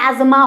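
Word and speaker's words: asthma: अस्थमा, इसको भी अस्थमा भी बोलते हैं, दमा भी बोलते हैं, और सिंपली सही इसका प्रोनाउंसिएशन एजमा होता है, ठीक है।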